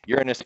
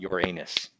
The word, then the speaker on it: Uranus: and that is from the center of Uranus Uranus is by the way how you pronounce it it is not Uranus because I know that's how lots of people